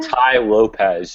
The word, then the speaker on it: Tai Lopez: Tai Lopez. It's a T-A-I, and then his last name is Lopez.